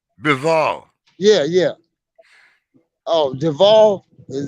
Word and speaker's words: Bivol: Uh, how Bivol, you pronounce his name? Bivol, Yeah, yeah.